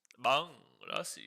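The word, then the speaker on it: bhang lassi: Spelt B-H-A-N-G, by the way, Jay. Banglassi. It's just pronounced like bang. Bang.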